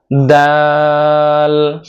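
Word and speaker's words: دال: দালটা উচ্চারণ করতে হবে জিহ্বার আগা দুই দাঁতের গোড়ার সাথে লাগিয়ে উচ্চারণ করতে হবে। দাল দাল দাল দাল দাল।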